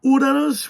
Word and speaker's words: Uranus: much here we go mission to uranus which is the correct pronunciation but yes uranus a